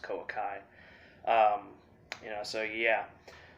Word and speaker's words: Koa'Ki Meiru: a koakameru deck profile i know everyone says kawaki but uh i'm pretty sure at least the way i see it it's canal pronounced koa kai um you know so